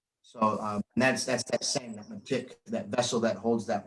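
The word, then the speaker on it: mitek: Our I is a long E and the E is a short I. So matik, and it goes along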